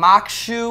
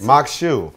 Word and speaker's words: Maque Choux: So we got some Maque Choux we're going to be making. Exactly. How do you say it? I like the way you say it. Maque Choux.